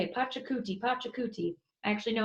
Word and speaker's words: Pachacuti: akuti his name is fun to say a Pachacuti Pachacuti i actually know how to say this